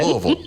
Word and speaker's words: Louisville: See, she says it correctly. Louisville. That's it.